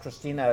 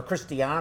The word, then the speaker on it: Christiane: call in and ask Christina a question, or Christiane, I keep saying it wrong.